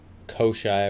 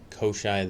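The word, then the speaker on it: Koschei: Koshai, I believe is how you say it, the Deathless from Slavic origins.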